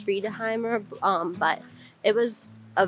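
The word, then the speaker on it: Friðheimar: well i think it's the restaurant is pronounced free toheimer um but it was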